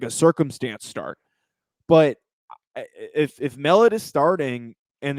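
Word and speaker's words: Mellott: Mellet. Yeah, that's what I guess. I was. Brooke Turtle Ghostly says it's pronounced like melon, so Mellet. So Mellet, the quarterback who stepped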